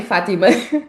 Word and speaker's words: Fátima: Pronunciei bem, Fátima.